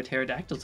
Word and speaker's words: pterodactyl: I never see regular pterodactyls anymore? Kill this thing. I'm gonna drop bomb. How did you think pterodactyl is spelled? Without a P! Because it's got a silent P!